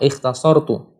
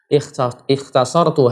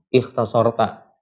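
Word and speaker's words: اختصرتُ: Harusnya bacanya dengan dhammah, ikhtasartu. Ikhtasartu hadza min ilmi asy-Syafi'i.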